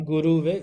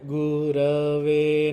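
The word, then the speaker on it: गुरवे: Tasmai Shri Guruve Namaha Not Guruve, Gurave Namaha. Gurave Namaha.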